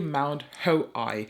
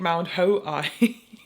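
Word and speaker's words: Mount Hoei: make the blues complete I also go to mount ho I hope I pronounced that right okay just looked it up it's really Mount hoi it it's it's um okay I stumbled across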